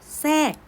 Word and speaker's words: แทรก: ไป ทร แอ กอ แทรก อาทร ตัว นี้ ออก เสียง เป็น ซอโซ่ นะ คะ เพราะ ฉะนั้น นัก เรียน